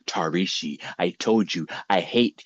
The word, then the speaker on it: Tarishi: Starting in eighth grade when a classmate called me Hershey. He found it difficult to pronounce Tarishi.